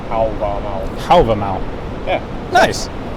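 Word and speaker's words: Hávamál: I used to say Halvamal. That's the Old Norse pronunciation, but in modern Icelandic, Halvamal. Halvamau.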